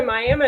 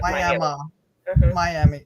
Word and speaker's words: Miami: well so there's the there's the miam tribe of Indians that are located Ottawa County and so that's why it's pronounced Mi instead of Miami okay got it wrong